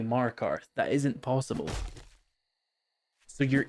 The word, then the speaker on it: Markarth: He said Markath, which is, and it's not like accent, like he maybe said like Markath, like he's from Boston. He just straight up said it wrong. And it's like, there's no way you've played like 1,000 hours of Skyrim and you don't know how to say Markarth.